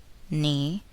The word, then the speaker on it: knee: The letter k is not pronounced in the following words. Listen and repeat each word after the speaker. Know, knew, knowledge, knee, knife, blackguard.